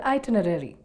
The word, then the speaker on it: itinerary: That's because we forget to pronounce the first R.